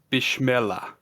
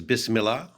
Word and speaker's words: Bismillah: I think the pronunciation is Bismillah, but given Bismillah. how much I've mispronounced on the show so far today, I'm not authoritative by any means.